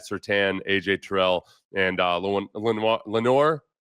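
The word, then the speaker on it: Lenoir: Then Pat Certan, AJ Terrell, and Len Lenor. Yeah, he pronounces it Lenor.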